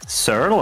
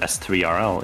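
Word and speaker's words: S3RL: It's surl, right? Like it's not S3L.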